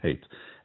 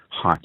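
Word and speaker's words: Haidt: a man called Jonathan hate. H A I D T Height maybe is it is it's how it's pronounced.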